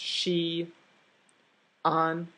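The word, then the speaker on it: Xi'an: we just saw the painting if this is pronounced she on or together as Chien well the apostrophe tells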